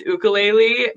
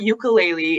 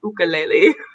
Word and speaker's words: ukulele: technically it is pronounced ukulele but americans just changed the pronunciation for some reason because it's from uh it's from hawaii and i have a